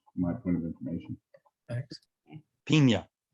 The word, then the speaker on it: Pina: Pina. Pina as in pineapple, that would have a little squiggly line over the end.